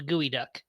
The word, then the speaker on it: geoduck: Geoduck, It's called a gooey duck. Gooey Duck. My bad. But it's Oh. spelled Geoduck.